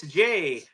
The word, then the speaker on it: Jay: Yay, it's Jay. Rhymes with gay.